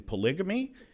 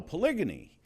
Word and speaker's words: polygyny: When he first said that, I said, "You're mispronouncing polygamy?" And he said, "No, polygyny."